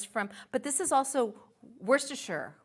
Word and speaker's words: Worcestershire: But this is also Worcestershire, right? Worcestershire, yeah.